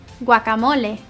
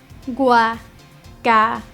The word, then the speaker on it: guacamole: 이게 발음이 스페인어인데 guacamole, guacamole.